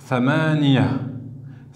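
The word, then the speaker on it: ثمانية: genre opposé, c'est-à-dire au féminin, on va dire thamaniya.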